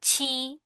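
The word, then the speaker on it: ち: খা, খি, খু, খে, খো, সা, শি, সু, সে, সো, তা, ছি, তু। এটা কিন্তু টি আর আই টি হওয়ার কথা, বাট এই উচ্চারণটি একটু ভিন্ন।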